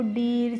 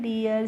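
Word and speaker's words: dear: Here तो देखिए बच्चों अब से इनको आपको डीर चीर बी आर या टीआर इस तरीके से प्रोनाउंस नहीं करना है क्या करना है डियर cheer beer tier डियर फियर, ईयर, नियर और हियर करके।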